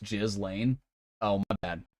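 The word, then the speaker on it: Ghislaine: You're saying her name wrong. It's pronounced Jiz Lane. Oh, my bad. Jizzlane Max.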